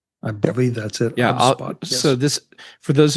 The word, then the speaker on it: Obsbot: And how do you pronounce the company's name? Obsbot, is that right? I believe that's it. Yeah. Obsbot, yes.